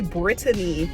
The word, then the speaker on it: Brittany: lot of confusion, but my name is actually Brittany, like Great Britain. But oh gosh, what is going on? But I just simplify it to Brittany because whenever I try